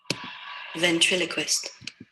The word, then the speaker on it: ventriloquist: up before we learn the meaning in the pronunciation vent Quist ventriloquist ventriloquist ventriloquist ventriloquist ventriloquist ventriloquist ventriloquist ventriloquist I